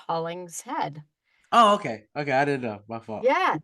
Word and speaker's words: Hollingshead: it's not uh a problem but it is pronounced haulings head oh okay okay I didn't know my fault